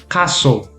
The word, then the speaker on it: castle: Castle. Castle. Yeah. So the Yeah. T is silent.